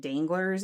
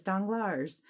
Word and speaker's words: Danglars: and audio because then I learned the pronunciations, like Danglars, I think, and I was like saying it danglers in my head, like super redneck, and it's like, no, it's Danglars.